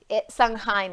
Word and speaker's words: Samhain: Samhain, gracias, porque yo decía, ¿cómo se pronuncia eso?